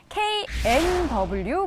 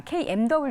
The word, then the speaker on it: KNW: 대표의 종목부터 확인해 보시죠 knw 보도록 하겠습니다 kmw 아닙니다 knw이 종목은 보니까 다양한 분야에도 연결돼 있어요네 어 발음 잘하셔야 되죠 nw 감사합니다 아이가 아니고 이런 비슷하게 회사들이